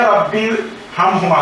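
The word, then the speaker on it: رب ارحمهما: তাহলে এর অর্থ দাঁড়ালো যে ইয়া রাব্বির হাম হুমা। তো এখানে আমরা দেখতেছি যে এখানে একটা আলিফ রয়েছে, এই আলিফের কোনো উচ্চারণ হচ্ছে না।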